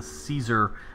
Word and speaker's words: Caesar: And so a lot of people say that it was done with the Caesar would be with a hard K sound.